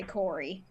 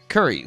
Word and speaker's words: Curry: Rob and Rackham, seem to say Corey. And Because I it's think the it's a same. pronunciation thing. Pronunciation. All right, Yeah. I'm gonna make sure to say Curry, Steph Curry.